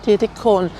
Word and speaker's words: Dietikon: I'm also trying to get the pronunciation right because I'm pretty sure I'm mispronouncing it as hon at the end of a lot of place names and I think it's meant to be cone.